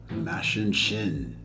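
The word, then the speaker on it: Machin Shin: Mashin Shin. Okay. Okay. Mashin. Nice shit. All right. Yeah, he said Martin Sheen. That's perfect. Martin Sheen, Pretty yes.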